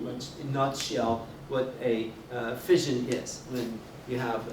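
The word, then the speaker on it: fission: spell it and you you pronounce it as fion not Fusion two different terms two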